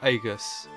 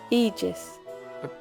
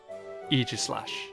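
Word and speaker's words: Aegislash: So, let's see what the correct pronunciation for this word is. Either Aegis or Aegus. Eegis. Pardon? Eegis. One more time. Eegis. Eegislash.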